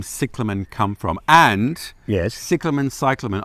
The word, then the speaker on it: cyclamen: Cyclamen is probably the most appropriate way to pronounce it, although in Australia people tend to say cyclamen.